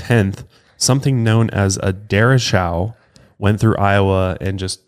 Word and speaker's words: derecho: And when you first look at it, it looks like it's pronounced derecho or derecho. Yeah, but it's derecho. Derecho, I believe is how you pronounce it.